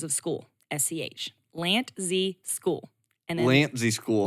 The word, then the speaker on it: Lantzsch: I married into the name, so I learned how to spell it as well. It is Lantzsch, Lantzsch.